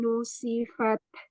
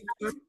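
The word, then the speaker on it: نُسِفَتْ: Kalau lihat gigi itu kan ada tempat tumbuhnya. Jadi benar-benar di ketemunya gusi sama gigi. Nah, ketemunya di pentokan itu. Jadi bunyinya nusi. Nusifat. Ya. Nusifat. Ya, oke, itu lebih baik. Jadi jangan kena ke langit-langit ya, karena jadi nusifat.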